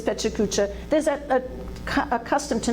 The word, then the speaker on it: PechaKucha: Now in Pachakacha, that's how I pronounce it, in Pachakacha, same thing as Pechakucha, there's a custom to